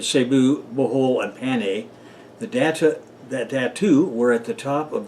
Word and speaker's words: Datu: Datu is spelled D-A-T-U, just like it sounds.